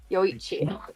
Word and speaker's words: Yoichi: It's pronounced as ch. So, his name would be wonderful. Yoichi.